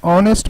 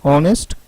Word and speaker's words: honest: So you see, when H is pronounced in historical, we used article a, and when H remains silent as in honest, hour, honor, we used an.